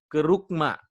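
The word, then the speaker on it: κήρυγμα: Nah, untuk pemberitaan Injil ini yang dilakukan oleh murid-murid pada waktu itu, ya bahasa Yunaninya itu kerugma, ya. Jadi tulisannya Kerugma. Jadi dibacanya keruk, ya kerugma.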